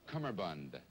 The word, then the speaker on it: cummerbund: Now, the way you pronounce it, it would be C-U-M-E-R Cummerbund. B-U-N, you see. But the way I pronounce it, it would be C-U-M-B-E-R B-U-N.